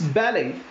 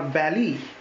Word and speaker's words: ballet: Then we have this French word, T is silent. It's ballet or ballet, ballet.